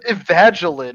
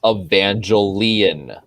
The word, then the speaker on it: Evangelion: i'm kidding i'm like what's up evangeline if that's how you pronounce it what is that it's it's pronounced evangelion no it's from that